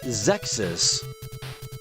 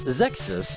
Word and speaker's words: Xexyz: And you pronounce it Zex's. It's not that the game is sexist. It's that it's Zexus.